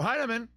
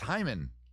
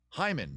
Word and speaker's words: Hyman: the same it's not it's hymen not heinemann hyman two syllables hyman hyman hyman